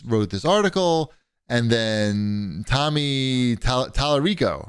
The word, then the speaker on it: Tommy Tallarico: And then Tommy Tallarico, right?